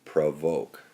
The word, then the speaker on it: provoke: this word is actually provoke that it's two syllables PR and voke and that the the O in this case is pronounced uh because it's schah vowels